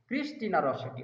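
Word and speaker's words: Christina Rossetti: উচ্চারণটা কি হবে? ক্রিস্টিনা রসেটি না ক্রিস্টিনা রসেটি? ক্রিস্টিনা রসেটি হবে।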